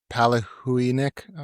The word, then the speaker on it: Palahniuk: Chuck Palahniuk. What? Whoa. You know what I'm talking about, right? That sounds good. Yeah, I know who you're talking about. Yeah, Chuck Palahniuk, whatever the name is.